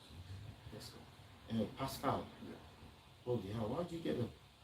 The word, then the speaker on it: Pascal: In French, you will read this as Pascal.